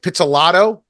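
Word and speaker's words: Pizzolatto: name right it's very Italian so I'm pelato did I pronounce that correctly yeah got it pelato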